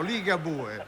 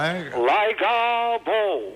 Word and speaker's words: Ligabue: No, non è americano, è italiano, Ligabue. Ma non si legge mica così. Ah no, Ligabo.